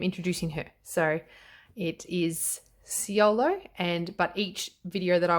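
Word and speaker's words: Siolo: So it is Ciolo, but each video that I watched pronounced it either Linestrider or Linestrider.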